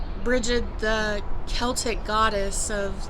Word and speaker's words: Brigid: Because you have like Saint Bridget or Brigid, or however you want to pronounce her name, is actually Brigid, the Celtic goddess of like art and creating, crafting.